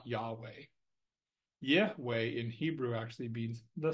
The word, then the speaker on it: Yahweh: it as Jehovah or have you heard it pronounced as yahe if you actually pronounce it correctly it's y way or something along those lines now granted I'm